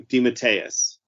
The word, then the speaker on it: DeMatteis: scott edelman cullen bunn thomas snagaski and j.m dimattayus did i say it right this time you did you did yes thank god only took you 152 episodes well listen you know i'm saying di matisse what do you want me to say i've